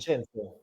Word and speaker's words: Vincenzo: How do you say it in Italian? Vincenzo. Vincenzo. Vincenzo, yes. Vincenzo.